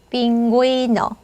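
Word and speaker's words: pingüino: 자, 얘가 점이 없으면 기라고 해야 되지만 점이 찍혀 있으니까 구이 이렇게 해주시면 되죠. 빙고이너. 빙고이너.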